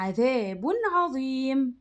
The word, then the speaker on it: عذاب عظيم: طيب التنوين هنا اللي بالضم نطقناه زي ما هو عذاب، ما قلناش ايه عذاب عظيم، لا ما عملناش هنا غنة، يبقى عذاب عظيم بس كده.